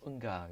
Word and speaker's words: UNGA: 참고로 UNGA를 따로따로 발음하지 않고 읽어버리면 응가가 되는데요. 응가.